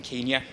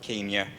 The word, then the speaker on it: Kenya: No, lo and behold, the official pronunciation of the name of that particular country was in fact changed at independence in 1963.